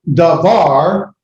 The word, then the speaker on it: davar: So it's not doubled, it's just pronounced the hard D, da.